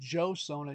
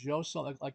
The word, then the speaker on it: Joseon: It's also spelled with a J, so it's Joseon and Joseon. It's not Joseon, it's Joseon, like a light J.